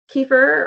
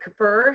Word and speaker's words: kefir: that they get the benefits of overnight recovery kefir or Cur however you want to pronounce it uh is another great option of